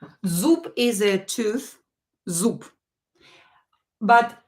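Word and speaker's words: зуб: consonants let's verify consonants too na premiere um Zoop Zoop is a tooth Zoop but instead of bay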